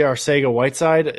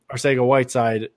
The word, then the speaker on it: Arcega-Whiteside: Arcega-Whiteside.